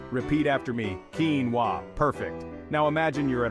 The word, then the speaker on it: quinoa: the correct pronunciation is quinoa it's as simple as it sounds quinoa the emphasis is on the first syllable Keen repeat after me Keen wa perfect now imagine you're